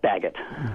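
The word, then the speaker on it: Baggett: Uh Bart Baguette, you say Baguette, right? Yes, Bagot.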